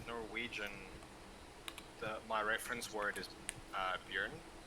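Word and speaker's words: Bjørn: with Norwegian, my reference word is Björn. Björn, is that spelled with an S or something?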